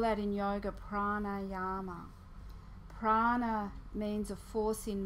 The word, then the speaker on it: pranayama: have two meanings because it's made up of prana with a long a sound on the end and a Yama or prana with a long e on the end and Yama so there's the word